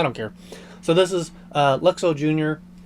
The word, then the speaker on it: Luxo: seen the main character, because it is the Luxor lamp. I've been saying Luxo for the longest time, but apparently just recently I found out it's pronounced Luxo.